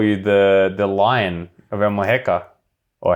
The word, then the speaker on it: Almuñécar: I heard someone call you the Lion of Almuñécar, or how I pronounce that terribly. Almuñécar, yeah. Almuñécar.